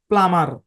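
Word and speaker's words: plumber: এই শব্দের উচ্চারণ কি এই শব্দের মধ্যেও বি সাইলেন্ট এই শব্দের উচ্চারণ হচ্ছে প্লামার যারা গ্যাসের চুলার মিস্ত্রী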